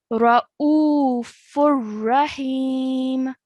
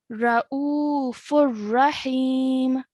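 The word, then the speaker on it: رؤوف رحيم: Okay, so the correct way to pronounce this would be as follows: Ra'ufur Rahim. Ra'ufur Rahim. Okay, so the normal nasal sound that you usually make when there is tanween is taken out. Okay, so there's no nasal sound, and you would only pronounce one stroke of the tanween.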